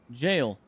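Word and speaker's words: gaol: be D it is jail huh I always knew the meaning of that word but I never knew how to pronounce it it's pronounced exactly like jail and it means jail interesting I learned something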